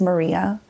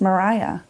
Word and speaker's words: Maria: It's one coffee-stained photo of my grandmother, and at the time we thought her name was Maria, which later out throughout filming and throughout meeting people and learning that her name was actually pronounced Mariah.